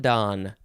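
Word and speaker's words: Donne: in my prayer that's a quote from john don don is d-o-n-n-e three an individual organ or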